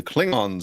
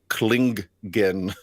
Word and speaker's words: Klingon: there um the the Klingon suddenly attacked the Enterprise oh no big Fleet um and uh Zulu pronounces it klingen and it's just like oh you hadn't figured out the pronunciation yet no you never really